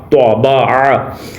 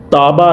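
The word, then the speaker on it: تبع: توبہ، عین زبر آ، توبہ آ۔ یاد رکھیں اس کو ہم نے تابا نہیں پڑھنا، یعنی تا کی آواز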